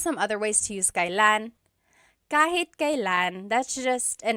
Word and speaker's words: kailan: And then just a pronunciation tip, it's pronounced kailan, kailan, but you will often hear it pronounced kailan, kailan. Kailan ang kasal?